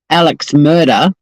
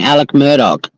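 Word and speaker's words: Alex Murdaugh: And every time he says Alex murder, I'm like, how can you watch a trial and hear everyone saying Alec Murdoch for weeks on end and still get the name wrong?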